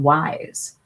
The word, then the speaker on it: YSE: It's cuz it's spelled Y S E, but she it's called Wise.